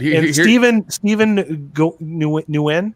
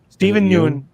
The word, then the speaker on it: Steven Yeun: But Steven Nguyen, did I say it right? Okay. Yeah. Steven Yeun is amazing in that movie.